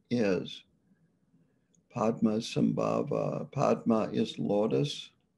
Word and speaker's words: Padma: name is padma sambhava padma is lotus the tibetans pronounce padma as pema sambaba is born then